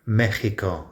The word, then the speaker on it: México: Sometimes in Spanish, in Spain Spanish, you see Mexico spelled with the J instead of the X. I don't know, I'm sure there's a story, but Mexico is the pronunciation.